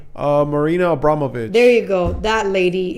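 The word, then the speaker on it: Marina Abramović: Marina Abramovich.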